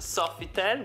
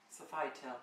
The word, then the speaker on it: Sofitel: Comunque siamo al Softitel. Guardate che meraviglia. Guardate che bello il Sofitel. Sofital si dice comunque.